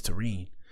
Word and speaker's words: Terrine: And her name is pronounced terine. I didn't want to say it. I didn't want to say it wrong. I was saying Taran in my head. Taran sounded cool, but her name is Tene.